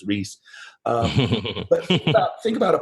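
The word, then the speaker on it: Ries: Jack trout and alrise Al ree is how he pronounce it I interviewed his daughter the other day and she told me it was Reese um but think about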